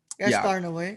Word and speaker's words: Gaspar Noé: Gaspar Noé. Is that how you say it? Gaspar Noé, yeah.